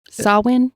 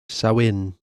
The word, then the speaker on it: Samhain: Samhain? I don't know, Beth. The pronunciation part is spelled Sahwhen. Samhain.